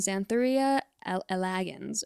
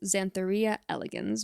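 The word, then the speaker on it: Xanthoria elegans: reso Karpin geographica and zan thoria elegans or elegans zanthor RIA elegans most likely is how to pronounce that one scientifically but you know honestly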